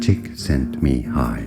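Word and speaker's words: Csikszentmihalyi: difficult pronunciation my god let's listen sent me high me chick sent me high chick sent me high okay this guy say the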